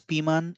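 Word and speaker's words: ピーマン: but not from English it's actually from French word piment or it is pronounced as piman in French as well so from there this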